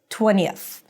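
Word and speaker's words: twentieth: So if it's hard for you to pronounce a high e and then a relaxed e because it's very subtle, just use a schwah there. So it sounds something like 20 uh and then a th 20th 20th.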